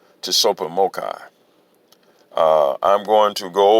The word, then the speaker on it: Tsopahmocci: resources brought forward via t-s-o-p-a-h-m-o-c-c-i pronounced to super mocha uh i'm going to